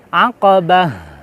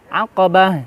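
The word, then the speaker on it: عقبة: tapi tak HAM al-aqobah aqabah airnya terasa bukan Alif atau Hamzah aqabah aqabah Pak marbutoh kalau di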